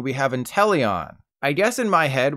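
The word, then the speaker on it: Inteleon: Leon in it and it's not pronounced Leon regardless think chameleon whenever you go to say intellion and whenever you go to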